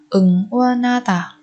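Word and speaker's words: 응원하다: Ở đây chúng ta lại biến âm phụ âm hiệt coi như phụ âm câm khi đứng sau bà chim ni ẩn.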